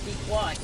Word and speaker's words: Pequot: Not Pequot. Pequot. Pequot. It's Pequot.